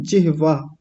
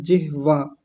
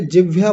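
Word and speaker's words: जिह्वा: उच्चारण के संदर्भ में यह शब्द होता है जिहवा ह को मैं आधा कर रहा हूं व को पूरा ऐसे होता है जिहवा बहुत सारे लोग पढ़े लिखे लोग हिंदी के प्रोफेसर तक संस्कृत के बहुत अच्छे जानकार लोग जिहवा ना बोल के जिभ्या बोलते हैं।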